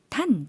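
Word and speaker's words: ท่าน: 그리고 이게 마치 태국어로 봤을 때는 장모음이 아닌가, 길게 발음해야 되는 것이 아닌가 하지만 짧게 발음해 주시면 되겠습니다. ท ่ า น 네. 탄 짧게 발음해 주시면 되겠고요.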